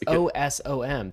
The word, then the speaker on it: Osom: awesome anatoly and it's osom that's what okay i was not following that pronunciation i thought you were saying a-w-e-s-o-m like awesome but this is oh some awesome is is it right